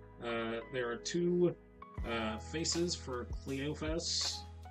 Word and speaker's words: Cleophas: I've heard Cleopas and I've heard Cleophas, because the English pronunciation of PH is sound, and I think something tells me that the Hebrew pronunciation of BH is a P sound, so, but anyway, I digress.